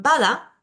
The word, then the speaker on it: pada: en la sílaba fusionada pero en pada tengo que sí o sí como es una palabra de dos sílabas en la última no puedo acentuar tengo que acentuar en la primera lo que decíamos antes